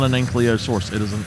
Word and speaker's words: ankylosaurus: People call the one dinosaur an ankylosaurus, and I did for a long time. An ankylosaurus, it's not an ankylosaurus, it is an ankylosaurus.